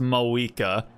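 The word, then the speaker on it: Mavuika: Okay, so it is pronounced Mawika. We're just completely ignoring the V and pretending that it doesn't exist.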